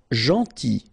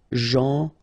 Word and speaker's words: Gentil: Gentil. So it's a strange one because here this final L is not pronounced. Okay? Gentil.